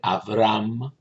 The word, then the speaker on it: Avram: Por ejemplo, el nombre Avram, con V debe ser pronunciado, quiere decir el Padre es exaltado.